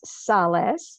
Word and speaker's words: Salles: you my last name it is sales and that is spelled s-a-l-l-e-s but it's pronounced like giving solace giving comfort and the easiest way